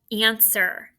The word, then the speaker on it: answer: The first one, answer. I hope I get the answer correct. Answer. Just spell it. Okay, let's spell it together, please. A-N-S-W-E-R. That W's the tricky part. You don't hear it.